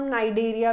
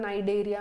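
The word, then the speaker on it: Cnidaria: Coelenterata को हम नाइडेरिया भी बोलते हैं, सी साइलेंट होता है नाइडेरिया में, इसीलिए नाइडेरिया पढ़ रहे हैं।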